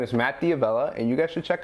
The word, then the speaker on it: Matt D'Avella: Matt D'Avella, that's how you pronounce it.